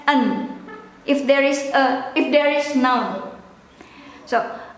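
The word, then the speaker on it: een: it instead of ein, you pronounce it as an.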